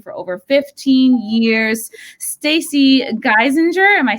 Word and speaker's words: Geisinger: Stacy Geisinger, am I saying that right? Good enough. Yeah. How do you say it? I say Geisinger. Geisinger. That sounds better. Like the things.